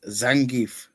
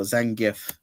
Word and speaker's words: Zangief: This is Zangief or Zangif, you know, whichever you want to pronounce it.